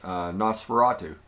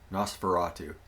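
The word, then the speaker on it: NOS4A2: Nosferatu. It's spelled NOS4, number 4, letter A, number 2. Nosferatu.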